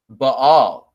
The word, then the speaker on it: Baal: there there it is b-a-a-l bail but all if you will because that's really how you pronounce it but all but all so that's